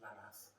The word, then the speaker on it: Lammas: So Lammas is pronounced Lammas, but it's written Lammas.